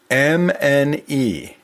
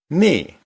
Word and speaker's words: mne: And then the next word part is mne, pronounced knee.